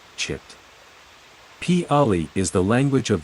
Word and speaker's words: citta: be preferred to use the Pali term citta, pronounced chit.